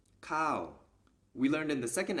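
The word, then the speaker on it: ข้าว: high class consonant and a high class consonant combined with this tone marker produces the falling tone so this word is pronounced cow we learned in the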